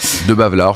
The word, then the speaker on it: Debavelaere: De Bavelaar, ça marche quoi. L'avant-dernier est muet, mais vous l'avez bien prononcé, je vois.